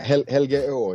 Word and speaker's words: Helgeå: It was called, I'm going to say this wrong, Helgia Festivalen before? Or Exactly. Kind of Helgeå is the Swedish way of pronouncing it, but this is exactly why we changed the name.